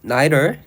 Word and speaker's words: neither: 또 다른 가능성은 neither 혹은 neither 이렇게 두 가지로 발음을 하는데, neither argument is refuted.